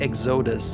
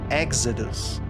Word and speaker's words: Exodus: It's a very easy language to learn, but you have to put the emphasis on specific syllables in a word, which is something that we don't have in French at all. So I can't just say like Exodus or Exodus. It has to be Exodus, right?